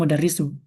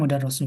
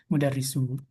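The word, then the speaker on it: مُدَرِّس: Maka dia di di tetap dibacanya mudarisu kan bukan mudar rasul ya. Kalau mudar rasul di atas tasdidnya itu baru dibacanya mudar rasul. Kalau di bawah mau dia di atas hurufnya, mau mau di bawah hurufnya itu dibacanya mudarisu.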